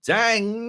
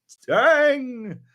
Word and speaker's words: Dang!: game coming out from Dang. You got to say it like that because it's got an exclamation mark. Yep. On the end of the name, so you got to say Dang.